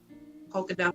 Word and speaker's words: Polkadot: Someone mentioned Polkadot too, Elvis. I heard that's gonna do well in the future. Polkadot. He said crocodile. Is a coin. Polkadot. Crocodile. Polkadot, like a polka dot.